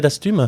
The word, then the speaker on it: Dastum: le travail que fait d'astume tout à fait alors le mot d'astum déjà que vous avez bien prononcé bravo parce que c'est bien prononcé du premier coup donc ça veut dire